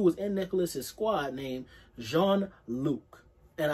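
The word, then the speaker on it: Jean-Luc: in nicholas's squad named jean luke and i believe he's french so should be pronounced jean but yeah so when we in the flashback we're in the perspective of john luke and he admits that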